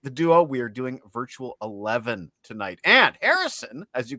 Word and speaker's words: Virtual XI: Well, Virtual 11 as it's pronounced, not Virtual XI is thus named because